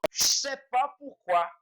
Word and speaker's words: je ne sais pas pourquoi: Mas na hora da gente falar, o ne a gente não fala, e esse a gente junta. Então, para deixar a pronúncia, eu vou je sais pas pourquoi.